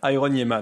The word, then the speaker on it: Iron.Yeahman: Iron Yemman comme comme ça se prononce.